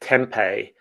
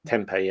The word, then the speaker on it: tempeh: Temp I mean I I think we I grew up pronouncing it tempeh but I don't but it's Yeah. It's like um it's a traditional Indonesian food and it's fermented soybeans.